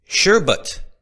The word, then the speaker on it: sherbet: ] is a strain called Exodus cheese and sherbet. It's again I finally learned how to say it. Sherbut.